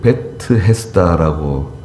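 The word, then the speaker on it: Bethesda: 배에 쓰다라고 하는 말은 원래는 베트 베트 헤스다라고 읽어야 되거든요 매트 헤스다 배틀은 집이에요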